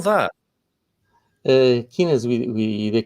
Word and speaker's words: quinas: That's why when we Portuguese mention the Portuguese football team is the quinas. Okay. How do we spell that? Quinas with the Q U I N A S.